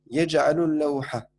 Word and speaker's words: يجعل اللوحة: Ouais, non, non, donc on doit le prononcer le lam. On doit le prononcer parce que c'est pas une lettre, c'est pas une lettre shamsiya, c'est une lettre qamariya. Yaj'alul lawha.